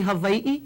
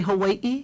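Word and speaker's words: Hawaiʻi: away you know AI but V sounds you can say Havi you can say Hawaii you're not going to be wrong but it wouldn't it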